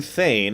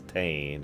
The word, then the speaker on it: Thane: Well, I was saying Thane, and then people said I was saying it wrong, so I'm trying to correct it. And then it's Tane, and...